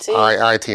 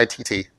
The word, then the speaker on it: IIT: Yes, IIT, not ITT.